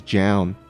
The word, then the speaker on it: Zoun: Yeah, I think most people call him Zoun, but someone, I think, tweeted or told Artosis that the correct pronunciation was Jown, or something like that.